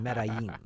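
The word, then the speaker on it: Medellín: If you watch Narcos, you know how to pronounce that. It's Medellin.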